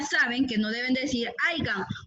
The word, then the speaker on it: haya: Por ejemplo, cuando usted dice aiga, está cometiendo un barbarismo, porque no se dice aiga, se dice haya.